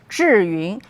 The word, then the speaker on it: Zhiyun: Okay, so it pronounced Zhiyun, meaning smart cloud.